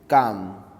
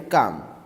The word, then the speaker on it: calm: calm it is calm l again is silent here so it is c a m com this was number eight